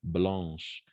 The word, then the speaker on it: blanche: De la même façon ici, A, A-N, on va prononcer comme un on. Blanche. D'accord? Blanche. Et pas blanche, et blanche. D'accord? Ch. C'est le son ici. Ch. Ch. Voilà. Blanche. On ne prononce pas le E à la fin.